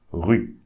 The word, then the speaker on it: rue: So we just pronounce RU. Rue. Rue.